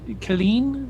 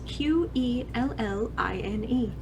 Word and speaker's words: Quelline: Colleen? Is that correct? Thank you very much. I appreciate your... thank you. If you would like a pronunciation or a spelling for the wiki, it is Quelline.